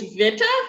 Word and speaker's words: Witte: was a way that that's i mean that is one pronunciation of it but um yeah i prefer the pronunciation of uh that that's the the german kind of phonetic way of saying it yeah i was going